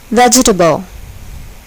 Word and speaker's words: vegetable: syllable is accented congratulate vegetable vegetable here the first syllable is accented vegetable emphasis emphasis here